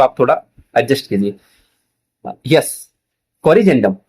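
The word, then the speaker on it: corrigendum: कोरजेंडम। बच्चों देखो जी के बाद में क्या आ रहा है? इ आ रहा है। तो ज का उच्चारण करेंगे।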